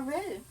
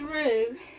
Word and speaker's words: roux: And this is going to be our roux.